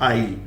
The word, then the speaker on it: aisle: इसका प्रोनाउंसिएशन जो होता है दैट इज आइल। क्या बोलेंगे इसका? आइल। बड़ा अजीब है ना, एस वगैरह सब गायब।